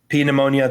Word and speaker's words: pneumonia: in his lungs um I I pronounced the p in pneumonia I apologize for that to all my medical people don't get mad at me um pneumonia that's a special version